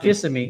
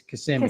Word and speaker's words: Kissimmee: It's not Kissimmee, it's Kissimmee.